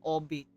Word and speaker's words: albeit: Obe the British calls it all beat in America. Albeit.